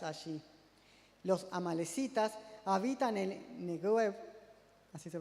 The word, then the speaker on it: Negev: Los amalecitas habitan en Negev, así se pronuncia.